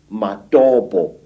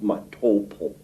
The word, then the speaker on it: Matobo: And one of these parts of Africa, say, is a remarkable place called the Mountains of the Round Rocks, Matobo, wrongly pronounced Matopo, in Zimbabwe.